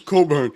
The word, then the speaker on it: Cockburn: It's Coburn. It's Coburn.